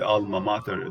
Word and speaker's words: alma mater: So when you say alma mater, that is the Latin real pronunciation, mater. However, more people tend to kind of say mater, which is the American pronunciation.